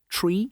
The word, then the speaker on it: three: Specifically, 3, 5, and 9 are pronounced tree, fife, and niner.